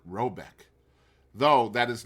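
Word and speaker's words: Råbäck: hair guard in question is to be called rabach pronounced something like robc though that is not its name it is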